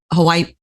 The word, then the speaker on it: Hawaii: they pronounce it, Hawaii. Hold on. They don't say it with a W. It's with a V.